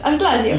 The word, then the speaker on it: Anse Lazio: Did I say it correctly? Yes, Anse Lazio.